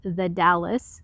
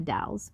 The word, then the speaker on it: The Dalles: which is coeur d'alene or as my gps says the dallas which is actually the dalles or willamette which is